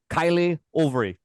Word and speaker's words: Kaïlé Auvray: The very, very surprising and exciting new attacking player for Trinidad and Tobago, Kaïlé Auvray. Did I pronounce that correctly?